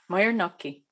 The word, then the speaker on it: Moyer-Nocchi: It is a French name, but it's become anglicized, and so I pronounce it Moyer. Okay. Moyer, and then Nocchi. Yeah. Moyer-Nocchi.